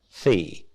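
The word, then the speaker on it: Vieh: There, the word for cattle is V-I-E-H, pronounced fee.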